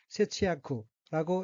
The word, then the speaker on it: 節約: 우선 첫째 줄 오른쪽 끝의 어휘는 한자가 한국어로 절약이고 각기 마디절, 매절 약자로 되어 있고 일본어로는 세치야쿠라고 읽으며 절약이라는 뜻입니다.